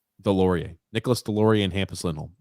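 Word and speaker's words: Deslauriers: How do you pronounce that last name? Delorier.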